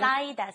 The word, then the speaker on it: 쌓이다: Listen to Lisa's pronunciation. 쌓이다. Saida, yes. Don't do the saida. It has to be saida anyway. And then at the end of that, notice it's saida. So how would you conjugate that into the oyo form?